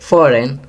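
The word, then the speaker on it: foreign: Fifth, फॉरेन, जी silent है।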